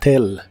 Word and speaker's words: tell: El verbo decir cuando se refiere a contarle a alguien en inglés es tell. La doble L se pronuncia como una L normal. Tell.